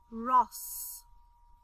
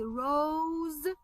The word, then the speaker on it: rose: If I hide the letter E, then I would read it as Ross or Roz, for example. But because I have letter E at the end, I have to say the long sound of the letter O.